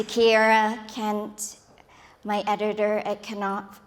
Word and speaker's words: Knopf: To Kiera Kent, my editor at Knopf Canada, where they pronounce the K.